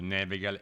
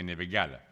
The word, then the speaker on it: Nevegal: È la montagna di cui tanti storpiano il nome, dicendo Nevegal invece che Nevegala, anche se l'accento c'è perfino nei cartelli stradali.